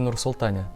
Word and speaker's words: Nur-Sultan: котором мы вонять с тобой были присутствовали и правильно говорить в нарсил таня теперь уже давно result они абсолютно верно и